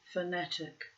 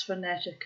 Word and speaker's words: fanatic: I pronounce fanatic and what is I suppose the older and more Irish way so that the last line of each stanza contains but two beats I sought my betters